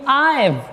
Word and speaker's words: I've: So in writing, we must write it as I have, but in speaking, I've.